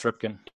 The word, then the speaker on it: Ripken: That's Mark Rippin's son. Remember Mark Rippin? Eddie was just Rippin. No, Cal Rippin. Yeah, no, that's Ripken. Yeah, it's Ripken. Mark Rippin.